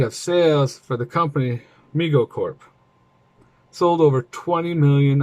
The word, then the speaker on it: Mego: opening well overwhelming demand migo pronounced me go corp was started by